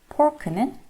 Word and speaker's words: pork: 이 fork는 F 소리 때문에 RNE를 물어서 바람 소리가 나요. fork, fork. 하지만 돼지고기의 pork는 양 입술을 튕겨서 pork, pork라고 발음합니다.